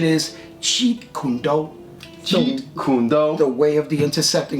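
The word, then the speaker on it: Jeet Kune Do: me like what what I said it's called Jet condu and you know I I didn't know what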